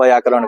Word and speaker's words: व्याकरण: ठीक है, तो ग्रामर को हिंदी में कहते क्या है, तो हिंदी में इसको व्याकरण कहते हैं। व्याकरण आधा व होता है, व्याकरण नहीं होता है, व्याकरण होता है।